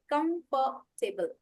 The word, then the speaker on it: Comfortable: R is silent.